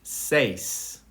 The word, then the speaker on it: seis: Number 6 is seis. This one, some people have difficulties with it, so you break it in half. You say se and then is, and then you put it together.